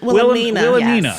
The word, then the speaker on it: Wilhelmina: Wilhelmina. Wilhelmina. Yes. Wilhelmina. Yes, Wilhelmina. the H is silent.